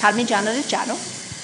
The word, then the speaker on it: Parmigiano Reggiano: Parmesan cheese, parmigiano reggiano.